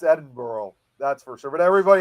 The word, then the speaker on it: Edinburgh: But one word that gets me is the Americans is Edinburgh. They always say Yeah. Edin Edinburg. That's what Yeah, that's I've always I again because maybe of the ancestry I've always said it as Edinburgh but there have but